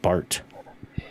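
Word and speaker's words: Barth: I I guess when you pronounce it, you don't really say the H, I guess, is the deal. I always hear it. Just Bart. I I've heard it Bart, so there's a little bit extra at the T.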